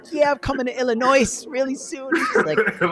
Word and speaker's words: Illinois: yeah i'm coming to illinois really soon that's how you know he's from new york he said he said the s i'm like how am i supposed to know the s is silent leave it off right